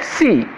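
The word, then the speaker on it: six: And C, see, note here, it's not 6 like in English, the X is not pronounced and I becomes a bit stressed, C, quatre, sank and C.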